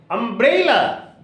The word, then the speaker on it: umbrella: And when it is a trisyllabic word, you must put the stress or accent on the middle syllable. Umbrella. You see, umbrella. Is almost inarticulate and la is also inarticulate, and bray has been stressed.